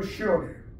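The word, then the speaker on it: שְׁאוֹל: 스월, 쉬어. 실제 발음은 쉬어예요.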